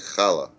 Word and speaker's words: challah: It would be pronounced in the language like challah. Right. It's like that, but it's hard to Challah. get it, but you can practice it.